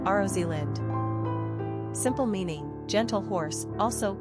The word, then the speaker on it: Rosalind: Pronunciation, Rosalyn.